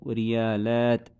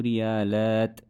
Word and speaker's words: ريالات: But I would not pronounce the tanween as I'm stopping at it. So I would say عندي ثلاثة ريالات.